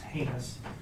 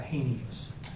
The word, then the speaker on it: heinous: First of all, it's pronounced heinous, not heinous.